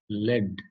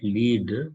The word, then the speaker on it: lead: The pronunciation is lead, not lead, lead.